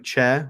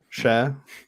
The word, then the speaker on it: Chair: I refuse to call him Chair, which is how it's spelt. I'm assuming it's not Chair. I'm assuming it's Cher.